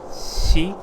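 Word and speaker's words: 四: considered unlucky because it is pronounced she which sounds like the word for death because of this many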